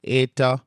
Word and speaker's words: eta: The eta looks like an N, but it's a long e vowel.